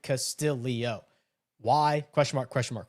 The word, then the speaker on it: Castillo: Please explain to me why NBC broadcast was adding a letter to Castillo's last name pronouncing it Castillio.